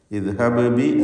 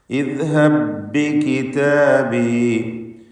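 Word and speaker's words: اذهب بكتابي: ഇദ്ഹബ് ബി എന്നല്ല, ഇദ്ഹബി ഒറ്റ ശബ്ദമുള്ള ഭാഗം മാത്രം. ഇദ്ഹബി കിതാബി.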